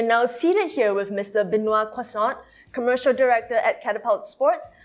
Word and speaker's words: Benoit Croissant: So, first of all, you pronounce my name very well, Benoit Croissant.